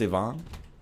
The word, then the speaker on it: Ivan: It's not pronounced Yvonne?